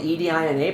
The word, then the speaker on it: Edina: It was spelled E D I N A pronounced Edina.